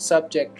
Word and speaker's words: subject: both sentences the word subject refers to a case or a participant when used as a verb this word is pronounced subject with stress falling on the second syllable as a verb subject